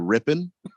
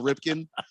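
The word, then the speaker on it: Rypien: No, he's not right. It's Mark totally Rippon. Right. Nope, you say that man's name correctly. He's 100% right. That man won a Super Bowl for my team. You'll say his name correctly. I'll never say it right again. It's Mark Rippon. Not me. It's Rippon.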